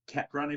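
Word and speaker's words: Kephren: But the kid, I think it's pronounced Kepran, if I'm pronouncing it right, Thuram at Nice, a young defensive midfielder, the other son of Lilian Thuram.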